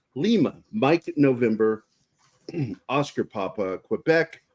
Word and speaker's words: Quebec: mike November Oscar papa Quebec or as we pronounce it in the military kebec Rome Romeo Sierra Tango